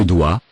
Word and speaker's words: dois: Je dois. Je dois. Remember final S is not pronounced.